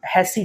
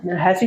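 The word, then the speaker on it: Hasse: is represented by something called as Hass diagram or hassy diagram that's what I used to pronounce hassy diagram in the hassy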